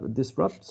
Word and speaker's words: disrupt: the last one okay i mean the last one because it's just two syllables this one exactly two syllables and the last one is the one most prominent disrupt okay disrupts all